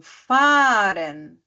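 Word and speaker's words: fahren: né Por exemplo o verbo faren fa a h r e n então faren o verbo gen g h e n aí parece que tem vai vai ter três e assim um do ladinho do outro né aquele H ele some assim na na na fala né Bota um e ali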